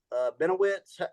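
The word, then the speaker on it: Bennewitz: these guys are uh let's go Paul Ben benowitz is how you say his name he's a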